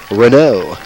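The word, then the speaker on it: Renaud: I didn't have a chance to tell you the pronunciation of his mic name before the game. Mike, it's Renault.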